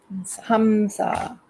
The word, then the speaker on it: Hamsa: It's HAM, is that right? No, HUM. It is. Yeah. And just SA. Yeah. Hamsa. And now that's probably not the exact correct spelling. However, that phonetically, if you say Hamsa, you get the vibration that you're looking for, and that's what that's what it's about.